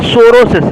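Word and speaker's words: psoriasis: तो बच्चों जो आपका सोरोसिस है प यहां पर साइलेंट है सोरोसिस है य आपकी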